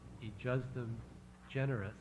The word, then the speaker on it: ejusdem generis: Then there's also a discussion, well, there's some principles of statutory interpretation, which I believe is pronounced ejusdem generis, which should be applied in this case.